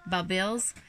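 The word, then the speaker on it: bulbils: It's spelled B-U-B-I-L-S. Kind of like pupils.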